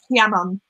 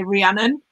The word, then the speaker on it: Rhiannon: Rhiannon. Hmm. Yeah, you proper like roll your R's. Yeah. It's H, it's like Yeah. Rhiannon. But in English, I'd just say Rhiannon, which goes through a bit, but Oh, bless you.